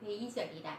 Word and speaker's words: 회의적이다: 요거는 짧게 발음해야 돼요. 회의적이다 할 때는 별로 좋게 생각하지 않는다는 회의 아니고 회의적이다 이렇게 발음합니다. 의자가 뒤에가 의가 나오면은 회의라고 발음 안 하죠.